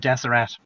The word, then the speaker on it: Deseret: To get back to the state of Deseret. Maybe it's called Deseret, but I'll say Deseret, pronounce the T at the end.